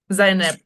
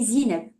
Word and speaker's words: Zainab: Zainab. Like if you see it in Moroccan, the dialect, the slang, you will say Zineb, but in Arabic it's Zainab.